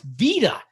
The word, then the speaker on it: beta: Like the second letter of the Greek alphabet to a native Greek speaker isn't beta, it's vita.